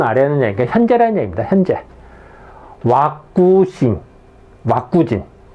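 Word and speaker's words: ワクチン: 왁구진. 백신을 읽으면요, 왁구진으로 읽습니다. 일본어로.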